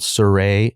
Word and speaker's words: Cire: So the name of the company is called Cire (pronounced "Sir-Ray") Sorry, the name of the BRAND is called Cire Artistry.